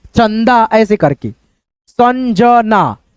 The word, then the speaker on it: संजना: इस बिंदी को हम लोग न पढ़ते हैं। चन च न द चंदा ऐसे करके संजना संजना रंजन रंजन आ की